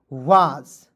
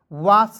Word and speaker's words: was: ठीक है, हो जाएगा स्टॉप वाज, WAS को पढ़ेंगे वाज, वास नहीं पढ़ लीजिएगा।